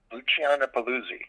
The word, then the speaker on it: Luciana Paluzzi: Luciana Paluzzi.